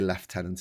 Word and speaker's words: lieutenant: Um, we do say left tenant is the lieutenant.